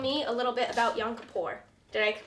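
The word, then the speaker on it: Yom Kippur: Now, as I cut up these locks, why don't you tell me a little bit about yonapour? Did I pronounce that right?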